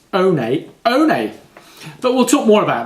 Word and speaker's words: One One: can use number 11 1-1 or with some brands it's pronounced own a own a but we'll talk more